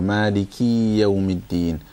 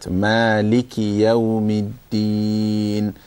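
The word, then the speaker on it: مالك يوم الدين: Okay, so when you say Maliki, sometimes, quite often people stretch the key and they go Maliki yawmiddin. Keep it nice and tight. Maliki yawmiddin.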